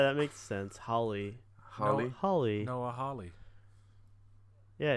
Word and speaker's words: Hawley: Noah oh yeah that makes sense Holly Holly Holly Oh Holly yeah it's H aw right like